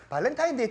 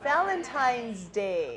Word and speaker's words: Valentine's Day: 발렌타인 데이 때 뭐 할까? What should I do on Valentine's Day? 아, 여러분 그 발렌타인스 데이는요. 발렌타인 데이가 아니죠. 네. Valentine's Day이죠. 소유격까지 들어가야 돼요.